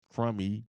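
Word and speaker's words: Crummey: annual gift tax exclusion so that's crummy Cy or it's spelled c r u m m e y what is let's you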